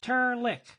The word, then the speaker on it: Trlk: "And my name's not, it's Turlick. Pronounced Turlick and spelled Trlk.